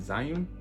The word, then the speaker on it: Zhiyun: I think that's the name of I think that's how you pronounce it, Zhiyun.